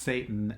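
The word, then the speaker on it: Seyton: name is is seitan like SE YT o n you know but it's pronounced Satan and he crystal doesn't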